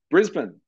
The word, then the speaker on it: Brisbane: up to Brisbane so Brisbane pronounced Brisbane despite how it is spelled it is Brisbane um is the capital